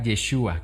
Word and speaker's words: Yeshua: de origen hebreo y se pronuncia yeshua Qué significa Salvador o el salvará yeshua se escucha muy diferente a la manera en la que pronunciamos Jesús el día de hoy